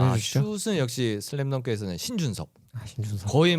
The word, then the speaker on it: 신준섭: 저 신준섭 할 건데 저 커미셔너께서 발음 잘 해주셔야 돼요. 심준섭 하면 안 돼요. 신준섭. 포틀랜드 넘어갑니다.